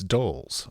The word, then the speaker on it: Doles: It's Doles, but everybody's like dolls.